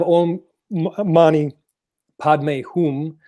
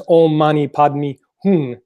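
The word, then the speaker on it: Om mani padme hum: to say it totally they pronounce it in two different ways anyways so you have all money Padma whom which is like the Sanskrit way to say it and then there's all money padmi hum or pay me foon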